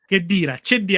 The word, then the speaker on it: Khedira: It's Walid Khedira. Actually, it should be pronounced Khedira.